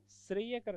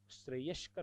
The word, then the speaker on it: श्रेयस्कर: शब्द और दिखाऊ आपको श्रेय करर एक शब्द लोग काम में लेते श्रेय करर श्रेय करर नहीं होता श्रेयस्कर होता देखना कुछ शब्द आपको